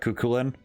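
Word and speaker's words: Cú Chulainn: I will say more like Kukulin. Well, that is how it's pronounced.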